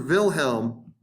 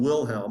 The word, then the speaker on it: Wilhelm: Now, we showed you Kaiser Wilhelm, and yes, in German, W is pronounced with a V, so we can just call him Wilhelm or William.